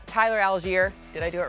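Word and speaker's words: Allgeier: You are the best pronouncer in the game. Can you do it for me? Oh, that's Tyler Algier.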